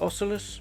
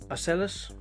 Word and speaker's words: Ocellus: I personally would pronounce it Ocelus, but everyone else is pronouncing it Ocellus, so let's just go with the masses.